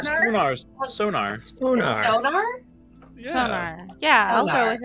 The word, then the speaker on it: Psognar: Sonar. Sonar. Sonar. Sonar? Yeah. Sonar.